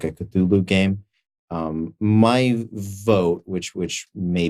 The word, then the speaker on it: Cthulhu: Cthulhu. There you go. Thank you. The normal pronunciation.